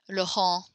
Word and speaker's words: Laurent: Like Laurent, we don't pronounce the T.